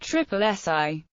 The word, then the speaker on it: SSSI: The acronym SSSI is often pronounced triple SI SSSI selection and conservation sites notified for their